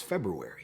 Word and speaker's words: February: Christmas time because it's February, which is a really weird word. It's the only word that you have like a hard R right after a consonant that ends a syllable, like every time. Feb-ru-ary.